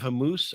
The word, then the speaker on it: Hormuz: it's the Strait of Hormuz. I think that's how you say it. Hormuz like a moose. Hormat No, Strait of Hormuz, I think.